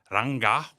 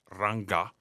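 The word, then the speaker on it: Rangga: to Basics baky in Indonesia and forgive my pronunciation um it's called ranga I believe r r a n g g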